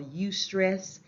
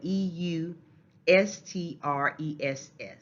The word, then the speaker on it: eustress: stress is good stress or what we call eustress that's spelled e-u s-t-r-e-s-s eustress good stress that type of stress or